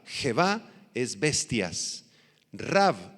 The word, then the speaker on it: Rav: Rav, R-A-V grande, con acento en la A.